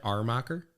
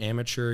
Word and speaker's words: Amacher: People like putting an R in there. Armacher. I think the traditional German there was an H at the front. But I don't know. Maybe all munchies. If you pronounce it amateur, you're not too far off.